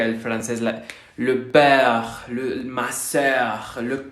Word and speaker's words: sœur: Estamos haciendo la boca en forma de O abierta, pero pronunciamos E. Para hacerlo, la lengua queda como en una cuenca. Exacto, es la de œil, sœur, cœur, cœur.